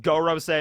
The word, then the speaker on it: Gorosei: i don't know but i think it's supposed to be pronounced goro say but i'll still probably